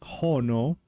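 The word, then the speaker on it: 火: The kanji for fire, which is pronounced hono.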